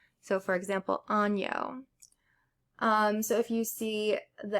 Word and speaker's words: año: The N with the little tilde on the top is pronounced like the sound in onion. So for example, año.